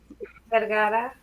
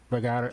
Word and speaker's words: Vergara: Vergara. Vergara. See, I like how you say it. Like Sophia.